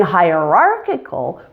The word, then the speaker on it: hierarchical: In hierarchical, primary stress is now on R, with a secondary stress on high. Hierarchical. Hierarchical. Do you hear the shift in the stress pattern? And the ending also changes. The final Y in hierarchy is now spelled I and is also weak. So it's lost its E sound and has become a schwa.